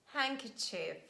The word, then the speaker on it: handkerchief: edge fridge judge bridge letter d is also silent in the middle of words when it's preceded by letter n sandwich handsome handkerchief but please make sure